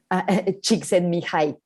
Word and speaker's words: Csikszentmihalyi: Csikszentmihalyi.